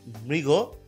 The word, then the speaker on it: মৃগ: মৃগ, এটা অনেকে মৃগ বলে, একদমই না, এটা হচ্ছে মৃগ।